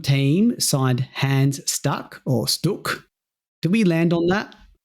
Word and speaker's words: Stuck: I'm sure he's not going to accept us saying stuck. He's going to make us say Sto as we should.